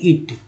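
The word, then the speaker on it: it: ये क्या लिखा हुआ है, तो टी लिखा हुआ है। इसका उच्चारण क्या करते हैं, तो आप बहुत सारे लोग जानते भी होंगे, कहें इट। तो बताइए, जब ये आई लिखा हुआ है तो यहाँ पर आई क्यों नहीं पढ़ रहे हैं, आई क्यों नहीं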